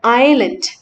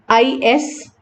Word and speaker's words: island: അതുപോലെ തന്നെ another example is in this word island, ISLAND, island, S is silent.